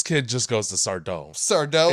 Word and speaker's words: Sardo: Sardo. It's not Sardo. It's accent on the dough.